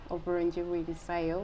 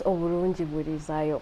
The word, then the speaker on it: Oburungi Bwirizayo: It is a sentence, especially with the pronunciation. I want to be careful not to say it the Luganda way. Yeah. So, what does Oburungi Bwirizayo mean? Oburungi Bwirizayo means that goodness extends or perpetuates or expands.